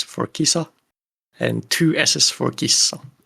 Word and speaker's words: kissa: pronounce the word uh you just uh hold the sound a little bit longer so for example Kissa which is race and Kissa which is cat has a short s and a long s